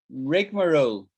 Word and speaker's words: rigmarole: the group chat was rigmarole a great word rig marrow three syllables reg marrow rigmarole um and um so let's